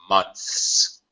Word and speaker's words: months: share with you that the word months of course it has uh the n Sound and the th sound then the S sound we got one two three consonant Sounds here all right so it's very common although the proper pronunciation is as you said months that's hard to do because you have to stick your tongue out of your mouth top teeth then slide it back to the position for